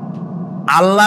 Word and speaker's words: আল্লাহ: নাম আল্লাহ বলেন তো আল্লাহ নয় কিন্তু আল্লাহ হচ্ছে অশুদ্ধ শুদ্ধ হচ্ছে আল্লাহ বলার সময় মুখটা গোল হয়ে যাবে বলেন তো সবাই উচ্চারণ